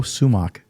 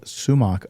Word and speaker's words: sumac: You throw sumac on top of that. Was and in it? Farsi, we call it sumac, but it's sumac is in the way you pronounce it in English.